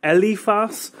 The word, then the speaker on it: ELEPHAS: It is the ELEPHAS, that's how I pronounce it, as you can see here, ELEPHAS projector.